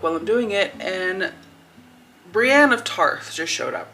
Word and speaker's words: Brienne: think her name is Brian are you joking this man thinks that brienne's name is Brian why didn't nobody say to him uh just so you know her name is pronounced Brienne why did nobody say